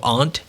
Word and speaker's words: aunt: And for anybody who doesn't know, aunt is the proper pronunciation of the familial term.